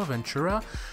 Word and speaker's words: Ventura: installer Mac OS VUR Ventura prononcezle comme vous voulez je le prononce à l'anglaise donc continuer là ça